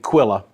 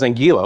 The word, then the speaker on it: Anguilla: Kitts and Nevis, on over towards Barbuda and Anguilla. I keep trying to say it right. It's in my head. I promise. It's like Quill, Anguilla, Anguilla, Anguilla.